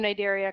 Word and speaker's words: Cnidaria: about the cnidarians on the C is silent pronounced pronounced innate area and this includes a pretty diverse group of organisms all of which which possess beta sites and so the name nidaria comes from these specialized